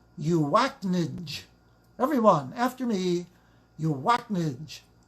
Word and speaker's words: UACNJ: visit our website please i pronounce it you act ninj everyone after me you